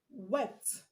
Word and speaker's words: wept: We have wept, wept, and stopped. The two of them have the t sound at the end.